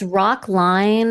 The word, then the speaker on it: Rocklein: It's rock line like you know standing in a line, but it's spelled L E I N.